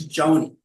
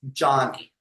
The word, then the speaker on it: Joni: And I'm thinking, oh, it's Joni. And then I found out later, no, it's pronounced Johnny.